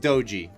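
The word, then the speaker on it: doji: Well, it's it's dogee if you remember right, Ronicus candlesticks are a Japanese these are Japanese candlesticks technically. So, I'm assuming it's pronounced Dogee. April Fool's joke could be dropped 4%. Dogee like dojo.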